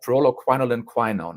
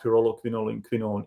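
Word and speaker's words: pyrroloquinoline quinone: And let me just try to mispronounce that for a second. Pyrroloquinolin quinone, I believe, right?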